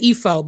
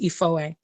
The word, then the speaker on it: Effoe: So most American people are going to look at it and say Ifo, but it's pronounced Ifoe.